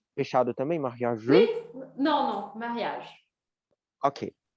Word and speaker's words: mariage: Esses eus aqui do final, a gente não pronuncia, como se eles não existissem, os eus no final das palavras.